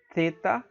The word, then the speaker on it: theta: Aí você tem o theta, theta, theta tem um som de T, mas não esse T dental, como a gente fala aqui no Nordeste, né?